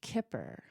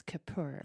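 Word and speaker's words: כפר: the word atonement for the Hebrew word Kipper or we sometimes pronounce Kapur yeah and that word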